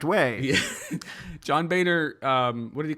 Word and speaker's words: Boehner: am actually correcting you the correct way John Boehner what did he call him the literal Antichrist